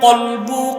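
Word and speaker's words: قلب: কলব, কলব, অন্তর। সব অন্তর কি আনুগত্যশীল? অন্তরের আরবি কি বলতে পারেন? কলব। অনেকে ভুলে বলে কালব। কালব মানে কুত্তা।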